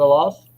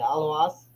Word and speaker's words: Aluas: Is it a loss? No, not even close. A loss? No, Aluas? Aluas? that's closer. Aluas. Aluas? God damn it, that was the last guess. Yeah, Aluas.